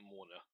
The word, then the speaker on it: Mauna: I pronounced that Morna.